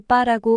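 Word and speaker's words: 八: 숫자 8은 중국어로 빠라고 발음되는데 빠는 돈을 벌다, 대박이 나다라는 뜻을 가지고 있는 단어와 유사한 발음이라서 중국인들이 제일 좋아하는 숫자라고 합니다.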